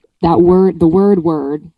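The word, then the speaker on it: wyrd: that word the word word word w y r d has come up both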